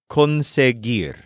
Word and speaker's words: conseguir: the word for acquire which is Con this is spelled just like the words con and SE put together c o n s